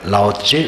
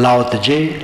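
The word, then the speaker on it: Laozi: ताचिंग तो पुस्तक है लाजे उनका नाम है लाजे लाजी लाज कई उच्चारण है लेकिन बात तो वही है लाचे आज से ढाई हजार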